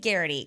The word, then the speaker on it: Garraty: So I have Steve Garraty, correct?